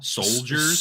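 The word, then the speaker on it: Souldiers: june 2nd and finally soldiers but it's spelled like soul like s-o-u-l soldiers soldiers comes out on playstation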